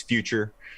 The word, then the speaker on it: Future: His name is Future, and that's FYU-CHUR. So you can't mess that up.